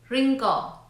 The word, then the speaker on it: wrinkle: The letter W is not pronounced at the beginning of a word when the letter R follows. Here are some examples. right, wrong, wreck, wrinkle, wrestling, wrist, wrap.